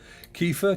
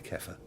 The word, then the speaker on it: kefir: those things that um you can pronounce it how you want and he pronounced it kiefer but he was american in fairness so it could be kefir rhymes with heifer which is a young calf god those stream labs